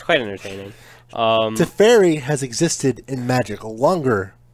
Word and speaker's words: Teferi: It's pronounced Teferi! See, it's always going to be Teferi when Jake's here. It's perfect. And so he's drawn. He also gets to untap 2 lands, so he basically just gets free mana. Oh my god, pronounced Teferi. For those of you who don't know, Jake's very specific on how you pronounce Teferi. It's not me who's specific. It's Wizards of the Coast.